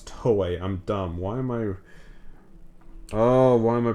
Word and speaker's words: Toei: watching trailers, because I was not familiar with Toho's game. Those guys be crazy. It's not Toho, it's Toei.